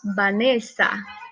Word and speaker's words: Vanessa: Até mesmo na pronúncia do meu nome. Quando eu falo meu nome para vocês, ou vocês também pronunciam meu nome em espanhol, pronunciamos Vanessa, ¿sí? E meu nome se escreve com V e o meu nome se escreve com V, certo?